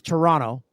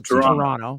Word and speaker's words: Toronto: Canadian it's t it's Toronto you don't pronounce the second T because Americans love to say the Toronto so Toronto Toronto Toronto and it's